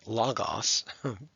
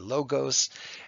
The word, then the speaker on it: logos: all of those words we then move on to logos or as some people who've never studied spoken Greek will say Lagos but this is a Greek Channel predominantly so I'm going to call it a logos and of course in